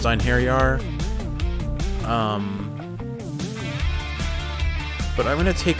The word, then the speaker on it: Einherjar: I know it's pronounced Einherjar.